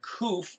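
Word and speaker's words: ק: cough which is the open hand the letter koof our english letter q is the back of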